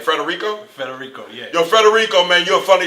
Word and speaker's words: Federico: Yo, how does he pronounce his name? Federico? Federico, yeah.